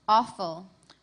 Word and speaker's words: offal: Could you pronounce it one more time? Awful.